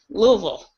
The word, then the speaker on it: Louisville: live in the south Louisville there we go um it's like a two and a half syllables yeah cue ball in mouth and say Louisville yeah um Teddy Bridgewater is